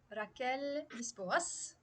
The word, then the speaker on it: Raquel Lisboas: I can say my special guest today is Raquel Lisboas. Am I pronouncing it right?